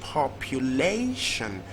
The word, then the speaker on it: population: It's usually going to be the third syllable because it also ends with TION, and it's even reasonably pronounced population.